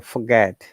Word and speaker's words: forget: because it's a bit in British English you do not pronounce r so we say forget yeah forget oh God we do not pronounce her and that o after f is a short sound okay so forget it becomes forget forget it doesn't it doesn't sound like forget forget yeah if you pronounce r that is American pronunciation that's fine still that's